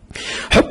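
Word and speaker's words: حُب: العلم هتبقى مفعول به فانتبه ان كلمه حب هنا هتنطق بضم الحاء على اساس انها اسم والعلم تبقى مضاف اليه مجرور وعلامه جره الكسره حب العلم والمعرفه والشوق للاكتشاف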